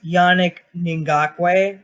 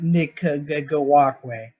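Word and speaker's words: Yannick Ngakoue: what's who i said it's yannick ningakway not nick go walkway just saying yeah i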